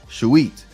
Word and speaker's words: shuit: The shu, the feather, which is called shu, the feather of Ma'at, and the u, e, and the bread loaf, which creates t, the shuit.